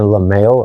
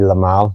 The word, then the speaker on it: Le Male: Like even on a sweaty day, JPG's Le Male Elixir, I always say it wrong. I got so used to saying Le Male, and it's supposed to be Le Male.